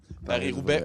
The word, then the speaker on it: Paris-Roubaix: Haut de France là on va le prononcer comme il faut Paris Roubet Haut de France mais